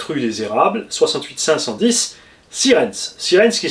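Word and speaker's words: Sierentz: Mon adresse c'est Raymond REYMOND, marque 7 rue des Érables, 68 510 Sirens. Sirens qui s'écrit S-I-E-R-T-E-N-Z.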